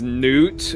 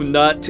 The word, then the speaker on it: Nut: So I'm gonna say you probably want to pronounce it as Newt, Yeah, because probably. if you say that he's from the womb of Nut, it gives a very different impression.